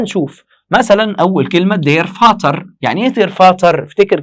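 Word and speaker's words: Vater: خلي بالك من فرق النطق. دير فاتر دي فيتر، دير فاتر دي فيتر، في فاتر فيتر.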